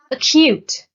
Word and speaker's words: acute: Acute. The stress is on the second syllable, and acute is an adjective which means extremely serious, painful, sharp, or severe.